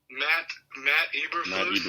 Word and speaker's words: Matt Eberflus: Matt Eberflus is how you say it.